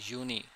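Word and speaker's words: Juni: अब जो यूनी है या फिर यूली है यह इसकी प्रोनाउंसिएशन दोबारा देख लें।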